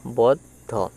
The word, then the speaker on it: বদ্ধ: দেখো ব দ বদ্ধ ব দ বদ্ধ ব এর সাথে দ উচ্চারিত হবে বদ আরধ ধ হচ্ছে আলাদাভাবে উচ্চারিত হবে বদ্ধ।